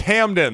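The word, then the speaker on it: Hamdan: Hamden hadman Hamden hadman excuse me if I if I don't know how to correctly pronounce this guy's name oh let me look at my notes it's Hamden there we go h-a-m-d-a-n there we go so Bush Hamden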